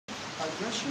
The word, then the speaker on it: aggression: When you pronounce aggression, say aggression or aggression. Aggression, aggression, aggression, aggression. You stress in the second syllable.